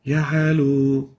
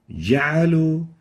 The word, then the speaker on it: وجعلوا: First mistake is weakly pronouncing the jim. Example, ja'alu. In this case, we can barely hear the jim, and the right way of pronouncing it is like this. وجعلوا Ja'alu. So the jim should be awarded its strength characteristic. It should be clear enough. Ja'alu.